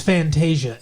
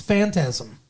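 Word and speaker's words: Phantasm: to me but like it's Fantasia instead he's like what supposed to be Fantasia suppos be fantasm and it's like it's fantasm do you not know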